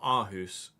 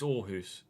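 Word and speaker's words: Aarhus: that it it was the double A was sounding more like an or like an O r like orus you don't you say it's the the club is called orus isn't it not aus it's orus although they're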